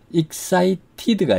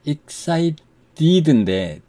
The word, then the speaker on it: excited: excited가 아니라 excited인데 D로 발음한 건데 이게 빨리 발음하다 보면 혀가 윗니 D를 탁 튀겨서 플랩 T라고 합니다. 플랩이 돼서 R 발음에 가깝게 들리는 겁니다.